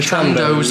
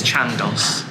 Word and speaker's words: Chandos: to a pub that you don't have to pronounce the name of. It's not The Chandos. like Nando's, it's Chandos.